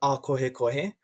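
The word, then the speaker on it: Ākohekohe: Akohe Kohe. Akohe Kohe is pronounced A-ko-he ko-he.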